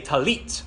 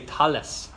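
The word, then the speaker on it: טלית: prayer shawl at elite in Israel they say tallit it ends in a tough but if you go to an Ashkenazi synagogue they would say tallis talis so we're learning Israeli Biblical Hebrew so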